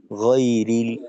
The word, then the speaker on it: غير: গ, ঠোঁট খোলা রেখে টান টান রেখে গয়রিল, তারপর মাগদু।